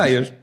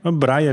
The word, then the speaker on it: Braier: Como é que pronuncia teu sobrenome, Jorge? Breyer. Breyer, assim.